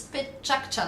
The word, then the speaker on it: Pecha: It's actually the sound of chit-chat in Japanese, as in Pecha, Pecha, Pecha.